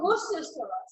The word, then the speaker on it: Worcestershire: I asked Matt, my brother, I was like, Matt, how do I pronounce it? I was just like, no, Worcestershire. It's Worcestershire.